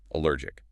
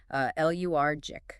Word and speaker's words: allergic: The vocal stress falls heavily on the middle syllable. uh lur j.